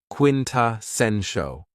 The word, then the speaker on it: quintessential: Another very cool adjective is quintessential, and this word has 4 syllables, and the stress is on the third syllable, quintessential.